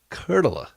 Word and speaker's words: Kurttila: and this is Oh tell me your last name again because it does not pronounce the way it sounds Kurt Allah Kurt Allah that's not how you typed it out Kurt Allah Kurt